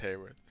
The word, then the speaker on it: Hayworth: The armies of Hworth. Yeah, but it's pronounced Hayworth.